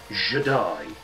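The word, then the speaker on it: Je'daii: Not Jedi, Jedi. It's spelled J-E-D apostrophe I-I, Jedi, which I really thought was a bit weak, if I'm honest.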